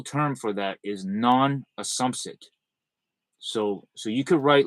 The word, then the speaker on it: assumpsit: non assum assumpsit um yeah like assumption but it's assumpsit okay um that's what